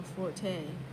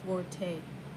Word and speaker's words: forte: word for fort or forte meaning specialty or strong point is not pronounced forte got it it's pronounced fort oh the italian word